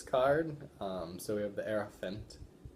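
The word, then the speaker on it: Hierophant: So we have the Heirophant, like an elephant, Heirophant, I think the H is silent.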